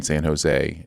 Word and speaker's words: San Jose: Like, he would talk about, he was going to San Jose, and somebody said, well, you don't pronounce the J in San Jose.